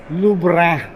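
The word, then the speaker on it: Louvre: Lubra. Yun ang tamang pronunciation doon ha. Para para French na French ang dating. Lubra. So parang sumisinga at lumalabas sa ilong.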